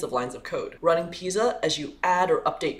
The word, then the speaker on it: Pysa: years old let's go pisa which stands for python static analyzer is a tool that tracks data flow through python code it's pronounced like the leaning tower of pisa and was built on